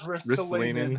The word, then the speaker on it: Ristolainen: It is Ristolainen.